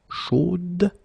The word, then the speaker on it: chaude: So here you pronounce the final d, whereas in the masculine form you don't pronounce it.